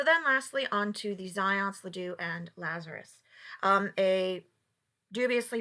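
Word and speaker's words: Zajonc: If you had any confusion on how to pronounce that name, it is in fact Zions, but I would not blame you if you pronounced it Zajunk, because that is just a good time all around. Right?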